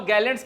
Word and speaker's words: Galle: इसको कई जगह हिंदी में गाले भी लिखते हैं। लेकिन इसका जो उच्चारण है वो गॉल होता है।